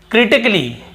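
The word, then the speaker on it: critically: फिर देखिए क्रिटिकली क्या होता है? क्रिटिकली यहां पर भी ए का उच्चारण नहीं हो रहा है।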